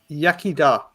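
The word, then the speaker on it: Iechyd da: Yakida.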